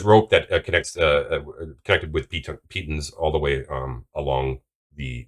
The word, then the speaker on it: pitons: We were mispronouncing pitons. It's not pythons. So What? Really? It's pitons?